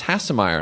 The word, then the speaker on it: Hasemayer: It was like one day someone was like, "Oh, I thought you said Hasemayer," and I was like, "I don't think so." And my parents were like, "Yeah, it's Hasemayer," and I was like, "Oh, well."